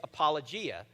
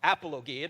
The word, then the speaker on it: apologia: And the word that is used there, it actually says give a defense, in Greek means or is apologia or apologia, depending upon how you pronounce it.